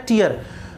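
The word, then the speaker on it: tier: उसका भी प्रोनाउंसिएशन क्या होता है, टीयर।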